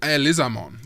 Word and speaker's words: Elizamon: They pronounce it Elizamon like fleamon or soniz which I thought was interesting.